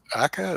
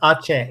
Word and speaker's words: Aceh: How is it in South Aka? Is that how you pronounce it?